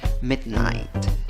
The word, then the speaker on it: midnight: En la segunda sílaba, aunque la vocal en la escritura es una I, la pronunciación no es con una I, la pronunciación es con la I con el sombrerito. ¿Cómo pronuncias la I con el sombrerito? I, según el diccionario Merriam-Webster.